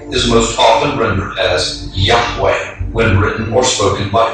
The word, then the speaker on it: Yahweh: Today, Yud-He-Wah-He is most often rendered as Yahweh when written or spoken by Christians and others. It is still never pronounced aloud by Orthodox Jews.